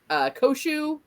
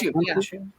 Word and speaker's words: Khonshu: And then we had like Steven blacking out and the conversations with, and I always pronounce his name wrong, Koshu. Or is it Kinshu? Khonshu? I think it is. Khonshu, yeah. I told you guys, I always pronounce his name wrong.